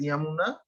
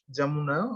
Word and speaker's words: Jamuna: So West Bengal it is known as Yamuna, but they pronounce it Jamuna also, and here in Bangladesh we know the river name by Jamuna.